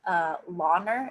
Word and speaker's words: Launer: is from a designer I believe it's pronounced Launer Lau and ER so the designers sam'l